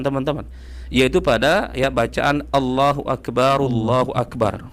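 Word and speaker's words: الله أكبر: yaitu pada ya bacaan Allahu Akbar Allahu Akbar. Ada dua kesalahannya di sini teman-teman. Yang pertama huruf kafnya ini seakan-akan dibaca dengan qalqalah, Teman-teman.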